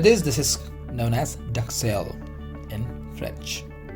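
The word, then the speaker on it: duxelles: D-U-X-E-L-L-E is duxelle. Is dogs, okay? Dogs cells. Duxelle.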